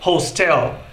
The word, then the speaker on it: hostel: muito só pode ser hostel quando a pronúncia correta é hostel veja novamente hotel e